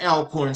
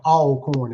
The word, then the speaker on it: Alcorn: Um, what was it like being a division one athlete at Alorn State University? And so hey, northerners uh usually uh pronounce it alorn. We call it all corn.